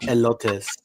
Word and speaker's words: elote: These are called elotes.